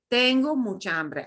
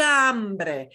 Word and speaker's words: hambre: to try tango mucha ambre and i want you to notice we don't pronounce the h you learned last time we don't pronounce an h it's silent it's the only truly